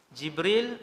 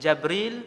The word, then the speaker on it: Jibril: Jibril, Jabril, Jibrail, Jibrail. 4 cara baca. Semua sahih.